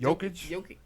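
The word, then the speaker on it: Jokić: Jokic. Yeah, it's like spelled with a J, but it's like Jokic.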